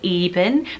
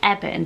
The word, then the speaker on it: Eben: It sounds a bit like Evan. Some people may pronounce it Eben, but I think the correct pronunciation is Eben because it's shortened form of Ebenezer.